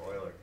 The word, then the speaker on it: Euler: It's called Euler's number, or Euler, depending on how you want to pronounce it. But generally, I pronounce it Euler.